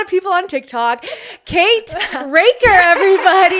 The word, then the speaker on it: Racker: Kate Raker, everybody, you said it right. Good job. I kept saying Recker. And she was like, Rkaker Raker. Raker, not Recorder.